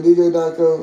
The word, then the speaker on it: Djdiako: So anyway, Djdiako, that's how you pronounce it.